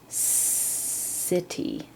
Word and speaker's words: city: 10 city, so that C sounds like an S, city.